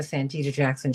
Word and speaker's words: Santita Jackson: David Gibbs in just a minute over on the next hour of the Santita Jackson Show. And thank you for pronouncing my name correctly, Carlos Ramirez Rosa.